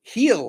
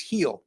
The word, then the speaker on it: Gil: the veteran left-hander while it'll be Luis Gil heel I should say going for the New York Yankees I always want to say Gil because that's how it's G but is pronounced heel so uh forgive me for the mispronunciation but